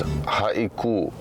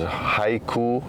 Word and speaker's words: Haiku: This one is Haiku. Haiku, often mispronounced as Haiku. Obviously just because the spelling is the exact same.